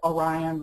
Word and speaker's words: Orion: a few varieties, but it is Orion like the constellation.